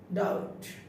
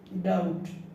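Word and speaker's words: doubt: উচ্চারণ হয় না আমরা রূপ পাই বি এর উচ্চারণটা রূপ পেয়ে যাই শাটল ডাউট ডাউট বি এর উচ্চারিত হয় নাই শাটল এখানে বি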